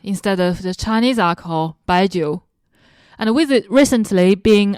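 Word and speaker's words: baijiu: And for those of you who are trying to understand the pronunciation, imagine it saying by Joe. By Joe.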